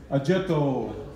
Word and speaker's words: Oggetto: a little bit and it is supposed to be pronounced like this ajetto i mean yeah it's